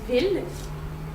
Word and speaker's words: ville: The other way of pronouncing it is il, il. So E and L, il. For these words, I think you're gonna have to learn them and know that they are pronounced like that. But there are more like this one than this one. So you have city, which is ville, ville, and mille, which is 1,000. Mille, ville, il.